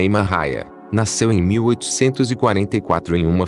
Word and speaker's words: Maria: Maria, cuja pronúncia é Maria, nasceu em 1844 em uma fazenda de Lisbon, Ohio.